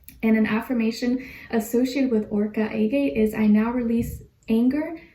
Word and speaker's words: Orca Agate: And then your crystal is Orca Agate. Orca Agate. O-R-C-A and then A-G-A-T-E. That's how you say it.